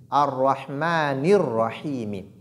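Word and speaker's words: الرحمن الرحيم: N'oubliez pas que la lettre Noun de Ar-Rahmani porte Kasra. Et cette Kasra doit être bien prononcée. On ne doit pas dire Ar-Rahmanir-Rahim, né, mais plutôt Ni. Ar-Rahmanir-Rahim. On dit donc Ar-Rahmanir-Rahim.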